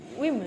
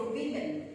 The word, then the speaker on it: women: And the Women. O in women makes the short I sound. We say women. Women. Women. I thought woman. We. It's not wo. We. Women. When it's plural, it becomes women.